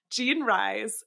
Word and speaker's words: Jean Rhys: I just looked at her name and panic Gene rise rise yes nice um Jean rise uh was so she her mother was Creole